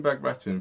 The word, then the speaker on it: Bagration: So Operation Bagration, for those who don't know, was a very decisive battle.